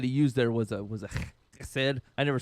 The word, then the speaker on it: chesed: And the love that He used there was a chesed. I never say it right. It's the H and the K at once.